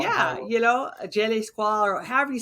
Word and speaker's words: je ne sais quoi: A je ne sais quoi, or however you say that. Je ne sais quoi.